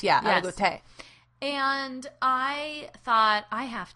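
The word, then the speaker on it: Aligoté: Chardonnay, but the um algote, is that's how you say it, right? Allegote. Yeah, alote. Alote. You got to look at what the accent is. Yeah. Alote.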